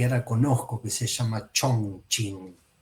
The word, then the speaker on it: Chongqing: conozco, que se llama Chongqing. CH hay 4 en chino, así que no me voy a hacer el fino y la pronuncio Chongqing.